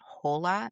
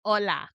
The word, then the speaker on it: hola: Is it you It So, are you now pronouncing it hola? Is that what you're telling me? It's not hol, it's ola.